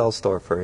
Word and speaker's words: Sailstorfer: Is that how you Michael pronounce it? Sailstorfer, yeah.